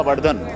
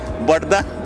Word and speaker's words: Vardhan: ज्यादा उसको माइलेज मिलेगा जैसा आपने बोला वर्धन तो कोई कोई जगह में इसको प्रोनाउंस करता है इट इ बर्धन टू द फार्मर्स तो हम उसको ट्रांसलेट